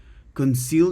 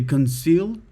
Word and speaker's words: Conseil: It's not can, it's con.